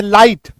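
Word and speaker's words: light: दिखे आईजीएस दिखे जैसे लाइट फाइट माइट राइट आर आई जी एसटी ऐसे शब्दों में आप देखिएगा जी और एच जो है ना वो साइलेंट हो जाएगा ये देखिए जैसे एल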